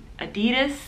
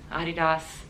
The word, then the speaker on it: adidas: is a german company i know most americans say adidas but my best friend's german like i said i worked for the company for a while it's adidas so your your way of